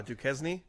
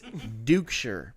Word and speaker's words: Duchscherer: No, his name is spelled Duchscherer. Oh, Duquesne? No, it's Dukeshire. Dukeshire.